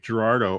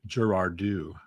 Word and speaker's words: Girardeau: But when I was watching a TV show, they pronounce it Cape Girardeau. Cape Girardeau. Huh? I'm like, it sounds fancy, but that's not how we say it up here.